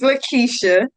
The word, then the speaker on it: LaQuisha: Can you give us your website, LaQuisha? Did I pronounce it correct this time? Because I wrote it down. No, LaQuisha. it's LaQuisha.